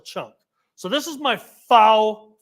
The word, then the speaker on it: faux: So this is my faux, how do you say that word?